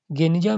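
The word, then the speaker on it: Geniza: 1896 में फुस्तात, पुराना काहिरा में बेन एजरा के यहूदी प्रार्थना भवन के एक सीलबंद कमरे, गेनिजा, जिसका उच्चारण गनिजा के रूप में किया जाता है, में मध्यकाल के यहूदी दस्तावेजों का एक विशाल संग्रह मिला।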